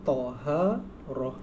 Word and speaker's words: Taharah: Ni cara bacanya Taharah.